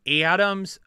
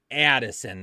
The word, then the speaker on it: Addison: receivers and a flex Adams excuse me Adam what the world did I just say I put a long a on the end of his name Adams Addison McClaren Rashad white James